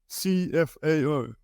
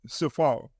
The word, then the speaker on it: CFAO: make sense of it cfao is pronounced as it says cfao and not Safar cfao stands for coroporation